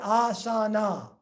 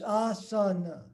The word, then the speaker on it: asana: And they're not pronounced as, it's not asana, it's asana. It's ah and sound.